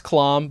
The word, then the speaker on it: Clam: It's Clom, but everybody says, you know what? Clom. Can I tell you? Most of the Cloms in the United States actually say Clam.